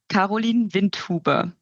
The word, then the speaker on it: Karolin Windhuber: for all of us how do you pronounce your name in a proper German accent um it's koline Vint tuber but you you did